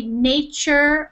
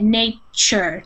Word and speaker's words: nature: are very common so when we say nature or natural you see a t